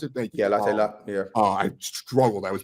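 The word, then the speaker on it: Latte Lath: How you pronounce it? Thank you. Yeah, Latte Lat.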